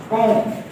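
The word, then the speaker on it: comb: Second letter, ठीक है, बी एम के बाद आएगा, हम बी को साइलेंट कर देंगे, लिखेंगे लेकिन पढ़ेंगे नहीं, प्रोनाउंस नहीं करेंगे। क्लाइंब, ठीक है, क्या पढ़ेंगे? क्लाइंब, कॉम, ठीक है, ये चढ़ना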